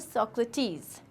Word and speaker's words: Socrates: The correct pronunciation is सोक्रेटिस.